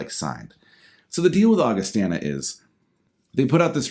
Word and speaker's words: Augustana: And I used to think it was called Augustana, but I heard the singer pronounce it Augustana.